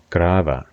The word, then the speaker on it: Grave: Grava. The Grava Bridge. The V at the end is pronounced as a softer V sound, so much of it V in love, rather than a sharp F sound.